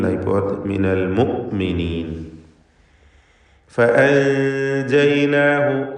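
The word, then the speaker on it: فأنجيناه: ഫഅൻജയ്നാഹു, സാക്കിനത്തായ നൂനും ശേഷം ജീമും ഇഖ്ഫ ഹഖീഖി നൽകി മറച്ച് മണിക്കുക. തർക്കീഖോട് കൂടിയുള്ള മണിക്കലാണ്. ഫഅൻജയ്നാഹു, അന്ത്യത്തിലുള്ള ഹ ദമീറിനെ ദീർഘിപ്പിക്കാതെയാണ് ഉച്ചരിക്കുന്നത്, കാരണം അതിനു മുമ്പിൽ അലിഫിന് സുക്കൂനുണ്ട് എന്നതുകൊണ്ടാണ്. ഫഅൻജയ്നാഹു വമൻ മഅഹു ഫിൽ ഫുൽക്, വീണ്ടും ആവർത്തിക്കുന്നു.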